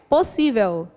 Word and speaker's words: possível: Qual é a sílaba mais forte? Vamos lá. Possível. Quando é acentuada, beleza. É mais fácil identificar, né? Possível. Última, penúltima e antepenúltima. No caso, a penúltima sílaba é a mais forte.